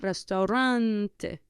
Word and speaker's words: restaurante: now I will say whenever you have a vow at the end of a word that one single stress will be placed on the penultimate syllable on the syllable before last so important therefore will